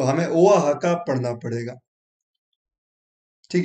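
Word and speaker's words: Oaxaca: ये अभी रिसेंटली हमारे ओआ है ना, क्या कहते हैं, ओहा हका, ये रहा इसका प्रोनाउंसिएशन, मैंने लिखा है प्रोनाउंसिएशन ओआ हका। हाँ, ओआ हका।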